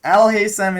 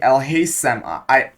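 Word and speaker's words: Alhaitham: This th thing, Al Haysam. When I'm trying to pronounce it, I say Al Haysam. Al Haysam sis. But it's actually the th one.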